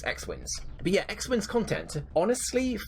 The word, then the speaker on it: XWins: It's like XWYNNS. So yes, it's XWins.